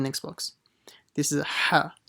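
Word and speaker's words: ح: This is a ha. Make sure you pronounce it from the middle of the throat. Don't say ha, a small ha, because that would be a big mistake. It's not ha, it's ha from the middle of the throat.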